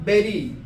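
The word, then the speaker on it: very: अपना हल्का सा लोअर जो लिप्स होता है उसको बाइट करते हैं। वी क्या बोलेंगे? वी है ना? ये जब तक नहीं करेंगे आप एक्चुअल उच्चारण नहीं पाएंगे।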